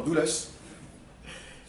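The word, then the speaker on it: Dulles: qui s'appelle dous euh pard pardon douleus prononce douleus plutôt douleus qu'est-ce qu'il dit bah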